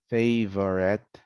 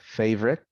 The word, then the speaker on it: favorite: talk about uh vowels native speakers drop syllables in some common words the dropping of vowels for example here interesting becomes interesting separate becomes separate favorite becomes favorite federal federal miserable miserable